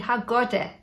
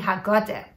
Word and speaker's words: haggadah: And haggadah is pronounced di haggadah. Di haggadah.